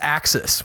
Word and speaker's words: AXS: I think it's Axis, which is spelled like AXS.